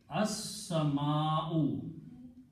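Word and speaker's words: السَّمَاءُ: And here, seen is a shamsi letter, it kills the sound of lam. And you have to pronounce seen two times. So it becomes as-sama. And also al changes two dhammas into one on the last letter. So the final word is as-sama'u.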